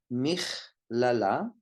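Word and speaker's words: מכללה: Michlala, and a normal speed, michlala. It's a chaf. The letter is kaf, but it's pronounced chaf because there's no dagesh in the kaf.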